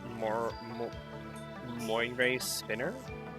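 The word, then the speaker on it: Moirae Spinner: Her innate skill is Moire Spinner. That's how you pronounce it.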